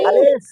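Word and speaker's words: ألف: যদি লাঠি না থাকে, খাড়া দাগের নিচের দিকে ডাইনে তার টান, তার নামও, তার নামও আলিফ। আলিফ উচ্চারণ করতে গেলে এই ভিতর থেকে বাতাসের মতো বের হবে, বাতাস বের হবে, তাই না?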